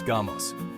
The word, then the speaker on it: γάμος: In ancient Greek, the word for marriage is gamos, pronounced gamos.